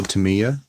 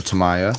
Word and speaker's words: Tamiya: I have already explained there was also Tamiya or Tamiya depends on I guess what part of the world you're at on how you pronounce that you know tomato tomahto but um yeah that